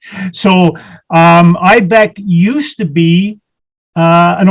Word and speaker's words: IIBEC: ibex stands for yeah ibec is an acronym uh international institute of building enclosure consultants uh we always say the first i is silent so um ibec used to be uh